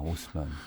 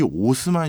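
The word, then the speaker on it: Haussmann: 프랑스 파리의 시장으로 만들었냐면 유진 뭐 프랑스 발음이니까 좀 네. 다르긴 하지만 오스만이라는 시장을 하나 임명합니다. 아, 오스만.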